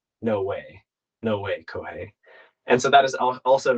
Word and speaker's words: Kōhei: no way no way cohei and so that is also now my like blue sky handle like that I I own that URL now um but kohi now rhymes with no way and I feel like